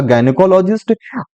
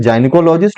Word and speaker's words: gynecologist: N obstetrician can बी अ गायनेकोलॉजिस्ट, अ गायनेकोलॉजिस्ट कैन बी N obstetrician. गायनेकोलॉजिस्ट को कुछ लोग जाइनिकोलॉजिस्ट भी पढ़ते हैं, कोई बात नहीं, दोनों दोनों सही प्रोनाउंसिएशन है, जाइनिकोलॉजिस्ट और गायनिकोलॉजिस्ट, ओके।